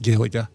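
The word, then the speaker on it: Gaeilge: G A E I L G E and it's pronounced Galiga.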